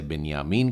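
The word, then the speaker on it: בנימין: बिना या मी एन हिंदी में इसे बिन्यामीन कहते हैं और एवरी में भी इसे बिन या मिन ही कहते हैं याकूब के यह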